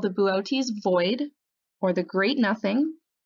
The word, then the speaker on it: Boötes: Now written out, it looks like the word boots, but it's actually pronounced Boötes.